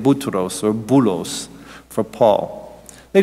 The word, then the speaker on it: Boutros: Arabic we say Boutros because the Arabs can't pronounce P so we get Boutros or Boulos for Paul